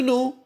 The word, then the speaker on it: know: is same do you know which no K is silent here okay and I that